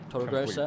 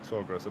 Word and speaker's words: Torregrossa: And actually, speaking of 11th and 10th, the Ferrari of Alex Torregrossa, probably Torregrossa, butchered that. Yeah. Torregrossa, there we go.